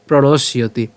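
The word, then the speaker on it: প্রণশ্যতি: সম্মোহাত স্মৃতি বিভ্রম এরপর স্মৃতি ভ্রংশত বুদ্ধিনাশ বুদ্ধিনাশত প্রণশিয়তি আশা করি আপনারা বুঝতে পেরেছেন অনুবাদ ক্রোধ থেকে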